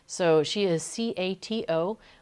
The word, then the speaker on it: Cato: names so she is c-a-t-o which the Dutch pronounce Cato um as opposed to Kato as I was pronouncing it for a little while because she's a cat